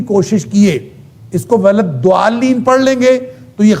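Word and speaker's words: ضالين: کیے اس کو غلط ضالین پڑھ لیں گے تو یہ غلط ہوگا، اس لیے حرام ہوگا کہ وہ آپ نے دال پڑھی ہے، وہ ضاد نہیں پڑھا. اسی طرح اگر آپ ضالین پڑھ لیں گے بغیر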